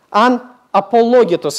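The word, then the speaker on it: ἀναπολόγητος: Это слово по-гречески звучит «анапологетос». «Анапологетос», извиняюсь, ударение. «Анапологетос».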